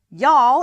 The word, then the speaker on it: y'all: funny little contraction y'all y'all is a contraction for you all it is pronounced y'all and used in some